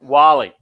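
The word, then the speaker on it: Guale: know it's spelled gwali um but it is pronounced wali they are a um a tribe of creek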